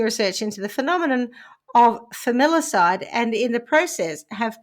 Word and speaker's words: familicide: Because they're familiar, it's the familiar side. Yeah. Yes. Yeah. Okay, so criminologists have been conducting increasing research into the phenomenon of familicide and in the process